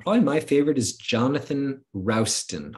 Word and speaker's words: Rowson: Um One of my favorite is Jonathan Rowson, r o s r o w Rowson, s t o n. He wrote a a a a article called Tasting the Pickle. Tasting the Pickle. So, that's a that's pretty memorable. Uh so, you can take a look at that. Jonathan Rowson. Rowson, Rowson, okay.